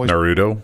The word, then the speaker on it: Naruto: of characters from Naraku or nor Otto Howard pronounce that my kid Oh Naruto Naruto see I knew I was saying it